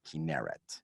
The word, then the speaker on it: Kinneret: 60% of the land of Israel is a desert, and we have a lake, and it's called the Kinneret, which sounds like a kinar or a harp or a heart.